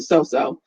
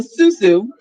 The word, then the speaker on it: susu: the soap to susu i keep wanting to call it the so-so so it can rhyme with no no but it's the susu and so some of